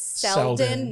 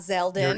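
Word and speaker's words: Seldon: going to reiterate that it's seldom not zelda you're correct and gail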